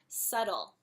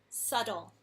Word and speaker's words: subtle: say the silent letters subtle I know there's a bee in there I don't know why there's a bee it's silent subtle English ah another word